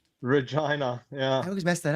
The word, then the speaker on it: Regina: pronounced Regina.